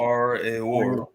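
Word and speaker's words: Aroer: That's how you pronounce it. Arior, which is by the river Arnon, even Gilead and Bashan.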